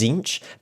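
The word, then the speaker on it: Tzeentch: also the pronunciation right there's a t at the start and the official pronunciation is zinch but i guarantee you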